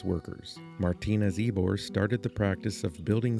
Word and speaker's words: Ybor: It's spelled Ybor, but it's pronounced Ybor.